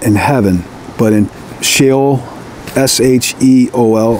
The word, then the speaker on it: Sheol: And he apparently was not in heaven, but in Sheol, S-H-E-O-L. I never pronounced that right. It's pronounced different than it's spelled.